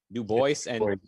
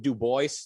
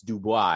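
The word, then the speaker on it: Du Bois: w-w-e-b dubois that way new voice i think he specifically pronounced it dubois the way you know phonetically but it looks french so people go no no it's dubois and then anyway i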